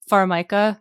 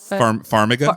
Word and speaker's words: Vera Farmiga: thought the young Vera Farmiga, right? Farmiga? Farmiga. I'm not the guy who pronounces. I don't want to pronounce it like Formica, like the table.